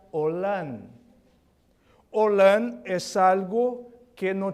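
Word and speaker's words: עולם: Una de las palabras que es utilizado para eterno se pronuncia Olam.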